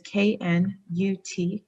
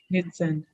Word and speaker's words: Knutsen: My last name, Knutsen, is Knutsen. And a lot of times people butcher the pronunciation because naturally in English we silence the K. So I always tell people it's like rowing a canoe with Zen.